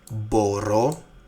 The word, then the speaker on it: μπορώ: Μπορώ, I can. Μπορείς, you can. Μπορεί, he's, it can. So, actually the difference here is just, the stress on the last word ending, on the last syllable.